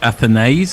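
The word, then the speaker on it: Athanaze: And it's Stokes in again, and that one is just pushed wide of Athanase, as we've come to understand his name is pronounced.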